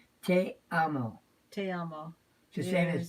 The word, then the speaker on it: te amo: Okay, in Portuguese, I love you is "e tu amo." E tu amo. Am I saying it right? Te amo.